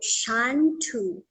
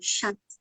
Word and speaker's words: Chantou: So Chantou, Bantu, like it rhymes. So if someone again, okay, I'm like, Bantus, Nilots, Kushites, So Bantu, Chantou, So that's my name, Chantou, That's an interesting way